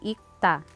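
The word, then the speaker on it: 읽다: means to read, ang basa sa kanya ay ikta. Nagiging silent ang real character. Kasi sa rule na ito, kapag ang kasunod na syllable ay consonant character, magiging silent o walang tunog ang isa sa dalawang patchim character.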